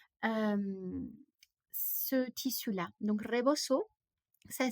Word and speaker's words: rebozo: sur leurs cheveux euh ce tissu là donc reboso ça s'écrit r e B O Z o et